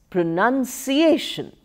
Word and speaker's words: pronunciation: Pronounce, second syllable stress, becomes pronunciation. Pronunciation. Stress shifts to the A syllable.